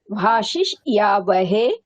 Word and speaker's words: भाषिष्यावहे: भाषिष यद्वे, भाषिष ये, भाषिष यावहे, भाषिष यामहे। न भाषिष्यावहे, श्या इति या उच्चारणं न करोतु, श्या इति अस्ति।